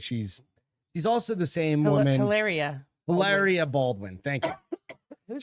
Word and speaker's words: Hilaria: Her name is Hillary Baldwin. Okay. But she goes by Hilaria.